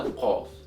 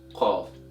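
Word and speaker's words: ق: So this letter is pronounced with a Qa sound in Modern Standard Arabic. In Egyptian Arabic dialect, it can be pronounced with the Qa sound or can be pronounced with the A sound, A sound. And there are no definite rules for that as well.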